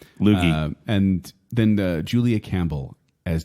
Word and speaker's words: Loggia: Loggia. Loogie.